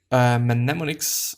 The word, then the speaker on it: mnemonic: Is it actually mnemonic or mnemonic? There is actually no M. Mnemonic.